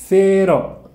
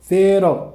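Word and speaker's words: cero: هذه معلومة ثانية، السي تنطق ثا في الإسبانية لما يجي بعدها آي أو إي. بضرب لكم مثال عليها أيضا. المثال الأول ثيني، ثيني يعني سينما، ثيني. والمثال الثاني ثيرو، ثيرو صفر.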